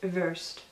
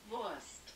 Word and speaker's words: Wurst: See, it kind of sounds like she has the V, but it kind of sounds like she's pronouncing the W. This is why I get so confused, because usually if you see a W, you'll pronounce it as V, but sometimes I swear I'll hear it be pronounced as the W sound.